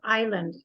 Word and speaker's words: island: yeah don't forget that that word is Island you do not say the s in Island yes please do the